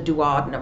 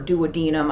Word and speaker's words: duodenum: of the small intestine called the duodenum or duodenum. I've heard it pronounced different ways.